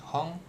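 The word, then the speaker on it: 本: Misalkan dikasih tahu kanj hong ya bacanya hon ini milihnya tetap jangan hong gitu kan.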